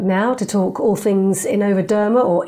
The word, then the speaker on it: InnovaDerma: from Capital Network now to talk all things Innovaderma or Innovaderma. I'm not quite sure how to pronounce it, although I did interview Kieran Callan at the beginning of the week. Ed, how do you say it? Innovaderma.